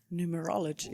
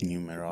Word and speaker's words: numerology: Numerology. Numerology.